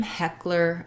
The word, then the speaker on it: Heckler: question about a name heckler and coke so heckler the first e is an e vowel like in red tent so we have the first syllable stress the ck says the